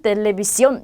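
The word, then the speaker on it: televisión: 그래서 하나는 텔레비시온 이렇게 되어 있고요. 하나는 텔레포노 이렇게 되어 있고요. 하나는 카페 이렇게 되어 있어요. 자, 이 친절하게 찍어줬기 때문에 이 부분에 그대로 강세를 넣어서 읽어주시면 돼요. 그러면 텔레비시온 하게 되면 우리 TV를 뜻하고요.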